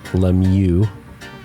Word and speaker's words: Lemieux: We have the man, the myth, the legend, Lemieux. And I pronounced that right, am I correct? Yeah, you did.